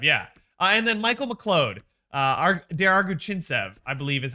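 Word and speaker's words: Semyon Der-Arguchintsev: And then Michael McLeod, Der Arguchintsev, I believe is how you pronounce his name.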